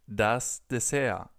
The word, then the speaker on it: Dessert: We just pronounce it das Dessert. Das Dessert. So a little more like the original pronunciation in French, where this word is actually from.